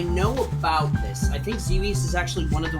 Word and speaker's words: Xevious: Number 62, Xevious. Xevious? Is that how you say it? Is that right? Xevious. Xevious. Yep. Just think devious with a Z sound.